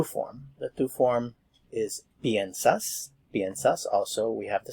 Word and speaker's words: piensa: Notice that the sound for the IE is ye, ye.